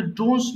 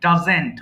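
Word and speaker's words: doesn't: এখানে একটা মিস্টেক হয় common mistake while pronouncing ডাজেন্ট এটা অনেকে বলতে পারে না মুখে চলে আসে এটা কিন্তু ডোন্টস নয় ডাজেন্ট ওকে আবার বলেন ভাই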